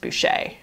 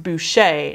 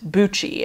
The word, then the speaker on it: Boucher: poochie perhaps and that's spelled similar to bucci but his name is pronounced boucher we worked hard um also fuji buchi and very beginning so as i just said his name is pronounced boucher not buchi and so